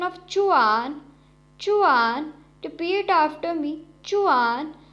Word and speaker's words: zhuan: The next Pinyin is ZHUAN, has a pronunciation of chuan, chuan.